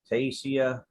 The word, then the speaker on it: Taisia: So, Taisia, I'm going to try to pronounce it fluently You got it. as best as I can, as often. Just don't add an H.